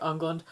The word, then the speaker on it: Englund: things go awry, which is namely with Robert Englund. Or England. I always, as I was growing up, I always pronounced it Englund because it was spelled differently, but I think it's pronounced England.